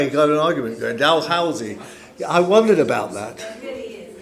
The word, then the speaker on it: Dalhousie: Dalhousie.